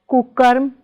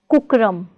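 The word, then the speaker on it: कुकर्म: It's kukarm, not kukram.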